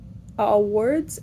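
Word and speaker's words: Awwwards: him a website called Awards. I don't know how to pronounce it. Like just Awards. It's just websites. AWWW. So a like www is in like website, and then ARDS.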